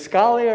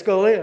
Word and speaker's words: Scalia: Is it Scalia or what?" No, he said, "It's Scalia, it's Scalia."